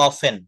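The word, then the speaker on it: often: আমরা অবটেন বলবো না এটা উচ্চারণ হবে অফেন অফেন অফেন হ্যাঁ ইয়েস হ্যা কালকে আপনি বলছিলেন অফটেন যার জন্য আমি আজকে অবটেন না না অফটেন বলি না আমি বলছি অফটেন হবে না এটা এখানে টি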